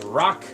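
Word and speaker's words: Raq: Kind of like the object that you would find on the ground.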